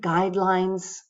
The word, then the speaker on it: guidelines: The first word guidelines has the syllable the first syllable getting the stress and B is the answer. There's only two syllables guidelines. B matches the stress for guidelines.